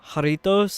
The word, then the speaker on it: Jarritos: I'm like, oh, jarritos, like that, the Spanish word.